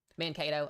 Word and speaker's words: Mankato: Mankato.